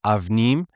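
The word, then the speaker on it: אבנים: Well, so they pronounce it avnim, but that bayet, going down to the philological drift, it's interchangeable with B and V.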